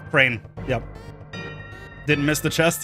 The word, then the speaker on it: Chrane: Is it pronounced like the animal bird? It's, yeah, Chrane.